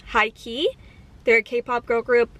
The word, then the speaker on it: H1-KEY: I also really like High Key. They're a K-pop girl group, but it's spelled H1-key, so the I is a 1.